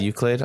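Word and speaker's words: Euclid: Another name I can't pronounce, Uklid. Oh, okay. Nice. Good tune. Is that uh is that how I say it? UCLid. Uklid. Okay, you're good. I got it right.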